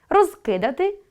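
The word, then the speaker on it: розкидати: Розкидáти — що робити? — недоконаний вид. Розкúдати — що зробити? — доконаний вид. Наголос допомагає розрізняти вид.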